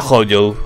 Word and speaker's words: Hojo: Yo es que lo he dicho ojo toda mi puta vida porque era pequeño y se llamaba ojo. Pero de tanto ver vídeos y tal de estadounidenses y de latinos que lo pronuncian bien y demás, se ha quedado Hojo.